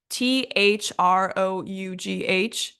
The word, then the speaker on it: through: and then of course we have a really common word through t h r o u g h which is pronounced through with this ooh sound on the end so even though all